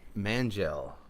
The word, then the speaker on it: Mangel: Mangel. It's like gel made out of man.